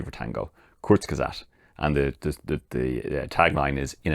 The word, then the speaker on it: Kurzgesagt: a car channel, but it's a channel called Kurzgesagt. Which, I'll probably spell that out for you because, I'll say it again, Kurzgesagt.